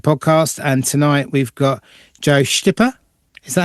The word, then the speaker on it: Joe Styppa: Welcome to the Drum Shed podcast and tonight we've got Joe Stipper. Is that how you pronounce it? Yes, that's it. Joe Stipper. Joe Stipper.